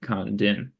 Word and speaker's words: Condon: And that's how you pronounce it. Kandin.